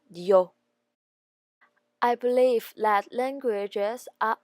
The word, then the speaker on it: Dior: Christian Dior in English, and Taiwanese people call it Dior. In French, it is Christian Dior.